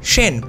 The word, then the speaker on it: Sen: dynasties both had the surnames Cena or as you would pronounce in Bengali Shen in their kings by